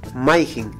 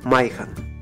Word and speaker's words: mayjin: Ahora, el pronombre interrogativo que solicita una respuesta demostrativa es mayjin. En algunas regiones se pronuncia mayjan.